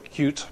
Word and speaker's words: Qt: So traits UI uses either WX or Qt backend. I'm told I'm supposed to pronounce it Qt. I can't quite get used to this.